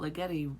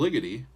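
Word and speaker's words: Ligeti: people are talking about legetti requiem legetti or little liggity depending on how you say it uh i know that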